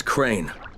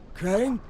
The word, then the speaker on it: Crane: store no my name's crane crane crane rhymes with train and brain and sane and grain and rain and plane and the